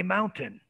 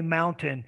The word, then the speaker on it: mountain: am you'd be surprised i say mountain i bet you behind closed doors talking to your friends you don't say mountain you say mountain and you don't say